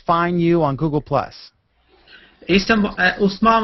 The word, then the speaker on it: Usman: Usman Muhammad.